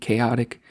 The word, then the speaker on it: Kaoti: and by the his his name is spelled k a o t i chaotic steel check them out